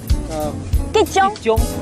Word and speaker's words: 桔醬: It's called 吉酱 Gijong. Gijong. Yeah, your pronunciation is so great.